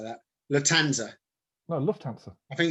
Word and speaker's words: Lufthansa: like that latanza well lufthansa i think it's a silent f i think it is if you're a real wise guy you don't pronounce the f so the the latanza heist is the key